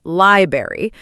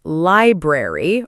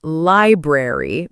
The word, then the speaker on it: library: Yes, some learners say library, but the full word is library or library, depending on accent. The important thing is not to lose the middle R sound completely.